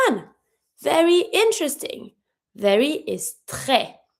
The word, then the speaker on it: très: Very is très. I do not pronounce my S on my own because it's a S.